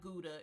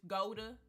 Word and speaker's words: Gouda: GA I learned that Gudda is not pronounced like gouda it's Goda or something like that hot pepper won't no